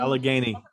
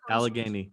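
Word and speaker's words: Allegheny: I've been Alagany. Alagany like the mountains. Like the mountain range.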